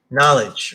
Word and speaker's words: knowledge: throw out things see knowledge right the k right in knowledge the case the k is silent um k is silent